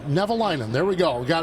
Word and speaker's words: Nevalinen: Nevalinen.